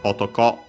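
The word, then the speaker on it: 男: an accent I think autoco accent on the last syllable and this is an exception because usually the knob would make it unacented But here we keep actually the accent.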